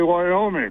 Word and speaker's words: Wyoming: And I know better than to say 3 syllables when I say Wyoming.